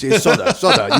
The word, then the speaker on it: Sotah: They say Sotah, and I say, no, it's just Sotah. It's Sotah.